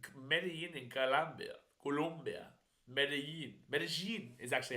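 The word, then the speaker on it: Medellín: in colia colia medin medine is actually how they pronounce it medine fun fact for people if you don't know uh medine is actually spelled m e d e l i n but every Colombian video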